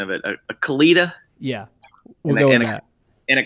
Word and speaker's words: Kalita: And then you got to help me with the pronunciation of it. A Kalita? Yeah. And a Kalita.